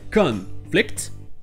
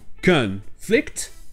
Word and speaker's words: conflict: Mais quand ce sont des verbes, ce sera la deuxième syllabe qui sera accentuée. Donc la première sera non accentuée, et aura le schwa, le son E. Donc vous aurez le verbe to conflict, rentrer en conflit, to conflict, et vous aurez le verbe